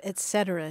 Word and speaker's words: et cetera: Now I'm thinking of et cetera, too. Et cetera. That's a great one. A lot of people say et cetera. Right, yeah, because that T, mm-hmm. that T-S sound there together, you want to, your